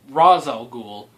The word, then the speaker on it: Ra's al Ghul: then it turns out Ducard is raeshell ghoul or Ra's al Ghul in is how they say it there he turns out to